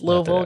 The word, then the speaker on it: Louisville: It's Louisville. Got to pronounce that correctly and they did a really good job in this.